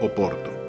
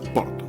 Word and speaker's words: Porto: Acá pueden ver otro, en este caso todo similar, pero de la seca de Porto, que en castellano se dice Oporto, pero que el nombre es Porto, ¿no?